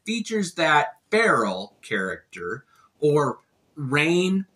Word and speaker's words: Rahne: that feral character or rain I always thought it was Ron the the little she wear wolf a she's such a great character but I just found out that it's pronounced rain so I had to